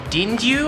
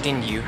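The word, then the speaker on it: デンリュウ: by a few people it's called dingu I want to say is how you say it's name in Japanese so we call it aneros but they call it dingu and here's the actual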